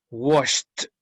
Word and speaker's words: washed: Por lo tanto, ese ED va a ser pronunciada T. Washed.